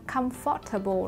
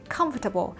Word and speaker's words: comfortable: Ok, chữ cái O ở đây, O, letter O here sẽ được phát âm là á, âm á.